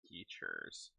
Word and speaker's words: Teatures: You can find my shirts at my Threadless account under Teachers, spelled creatures but with a T instead of a CR. Nice. How do you spell that? TEATURES. Teachers.